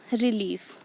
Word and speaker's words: relief: The next is relief. Here re is unstressed, leaf is stressed.